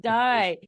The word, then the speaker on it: Dai: know sometimes it's pronounced day but sometimes it's also pronounced die so with a Welsh pronunciation but no you're you're